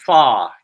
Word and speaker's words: pho: They call that soup pho, even though it's spelled pho, but I don't want to upset anyone.